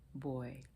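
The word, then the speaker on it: buoy: And also another note that says, groaner, a whistling boy. Boy, B-U-O-Y, to be clear.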